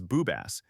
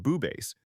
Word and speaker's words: BooBass: But some mature people on YouTube pronounce the name as Boobass, and it's likely explicit or sensually offensive. Despite its popularity, it remains available in FL Studio and is commonly pronounced Boobass.